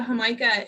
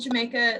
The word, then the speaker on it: jamaica: looks like it's spelled Jamaica. It looks like we're more accustomed to that word being Jamaica, which we associate with an island in the Caribbean, but they're talking about Homica.